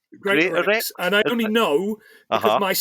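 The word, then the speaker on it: Greatorex: Now, I'm not sure about how to pronounce this guy's name. So it's created by Wilfred Greater Gratore. X. Greater Greater X.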